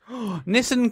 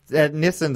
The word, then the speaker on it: Nissan: Nissan's another one Americans say different. Nissan. Nissan.